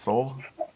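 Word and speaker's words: Sol: I heard in an interview with the director, and his name is pronounced Soul.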